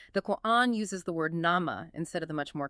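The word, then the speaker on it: نَعْمة: It deliberately uses nama.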